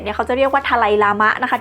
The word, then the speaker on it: ดาไลลามะ: สำเนียง ชิ เบต เนี่ย เขาค จะ เรียก ว่า ทะไลลามะ นะ คะ ที่ แปล ว่า ทะเล ใน ขณะ ที่ ฝรั่ง อาจ จะ ฟัง ไม่ ชัด หรือ ว่า ออก เสียง ไม่ ได้ ก็ เลย เรียก ว่า ดาไลลามะ ค่ะ แต่ เอา ว่า ใน สมัย เ ตำแหน่ง